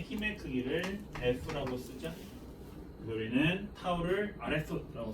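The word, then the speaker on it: τ: 타우, 읽을 때 타우라고 읽으면 됩니다.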